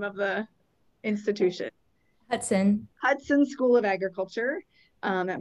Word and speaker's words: Hutson: Hutson.